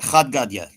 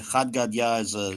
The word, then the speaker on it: Chad Gadya: Chad Gadya. Yeah, Chad Gadya it's an Aramaic song.